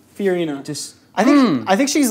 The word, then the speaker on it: Fiorina: Fiorina. Fiorina.